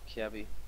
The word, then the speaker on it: Kjaerbye: How is it right to pronounce your nickname? Dennis, it's Kjaerbye.